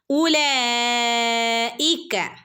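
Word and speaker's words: أولئك: ഉലൈക, ഇവിടെ നോക്കൂ, വാവിന് ശേഷം ഒരു അലിഫിന് ശേഷം ഒരു വാവിൻ്റെ മുകളിൽ സുക്കൂൻ അല്ലേ. അപ്പോൾ ഇവിടെ നമ്മൾ ഈ ഒരു ചിഹ്നത്തിന് വാവിൻ്റെ മുകളിൽ ഇങ്ങനെ സുക്കൂന് വന്നാൽ ഇവിടെ പ്രത്യേകിച്ച് ഇതിനൊരു ഉച്ചാരണം ഇല്ല. ഇതിവിടെ സൈലൻ്റ് ആണ് കേട്ടോ. അതിന് പ്രത്യേകിച്ച് ഒരു ശബ്ദം ഇല്ല. നമ്മൾ എന്ത് ചെയ്യുക, സാധാരണ പോലെ കൂട്ടിച്ചേർത്ത് ഓതി പോവുക.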